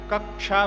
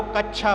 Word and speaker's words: कक्षा: का रहता है, इसलिए कक्षा बनता है। कई कई जगह लोग इस छा का उच्चारण सही तरह से ना करके छतरी के छा जैसा करते हैं, तो वहां पर वो कच्छा बोलते हैं।